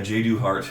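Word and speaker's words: Jadu Hart: But yeah, J.Do. Hart, and it's spelled J-A-D-U and then just Hart, like the organ, but or muscle technically.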